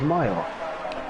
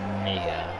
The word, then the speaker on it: Mia: I thought it was Maya. Apparently you pronounce it Mia.